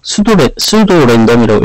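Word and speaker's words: pseudo-random: 이게 포스트 랜덤이라는데요. 수도 랜덤이라고 읽고요.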